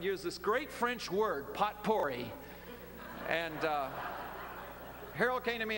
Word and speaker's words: potpourri: this great French word, potpourri. And Harold came to me after the service and said to me, Pastor, he said, the word you used this morning, potpourri, the correct pronunciation of that is potpourri.